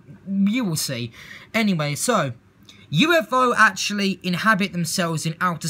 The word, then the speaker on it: Yooefo: o so it's like it's basically other pronunciation for how you say UFO but it is a